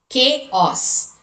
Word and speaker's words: chaos: Chaos.